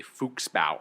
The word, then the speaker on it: Fuchsbau: tea shop, that episode was called One Angry Fuchsbau, I believe. Yeah, good pronunciation.